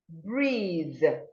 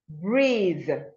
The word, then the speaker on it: breathe: We are talking about the voiced TH sound, and it's articulated the. Words having the sound the are bathe, bathe, breathe, breathe, brother, brother, then.